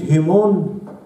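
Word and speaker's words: ἡμῶν: بيوبسلين أو تبدأ بإيتا، والاثنين أصلا نطقها هيمون. مثلا هقول مسيحكم، هقول مثلا تون خريستوس هيمون، مسيحنا تون خريستوس هيمون، دي بالظبط في النطق، بس دي تبدأ بإيتا والتانية تبدأ بيوبسن، والاتنين التنفس هائي هيمون وهيمون.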